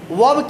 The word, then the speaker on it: verb: वर्ब क्यों है? क्योंकि ध्यान देंगे तो बाबू आर जो होता है वो साइलेंट मोड पे होता है।